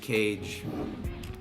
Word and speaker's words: Kage: Do you say Kage or do you say Cage? Even though I know it's pronounced Kage, bro, I still call that I call that bitch Cage.